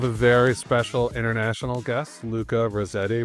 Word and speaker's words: Luca Rossetti: So today we have a very special international guest, Luca Rossetti, which he informed me is the perfect American way to pronounce his name.